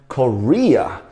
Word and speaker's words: Korea: 重音在 re 这边，Korea。